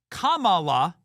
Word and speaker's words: Kamala: was Kamala is racist saying her name's Kamala Kamala is the correct way to pronounce her name you know they tried to